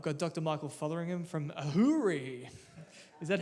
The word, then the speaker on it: AHURI: Michael Fotheringham from Ahuri. Is that how we pronounce it?